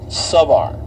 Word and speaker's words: Savar: It looks like Kavar, but it's Luke Savar. And chat will double check me here really quick. It should be Savar.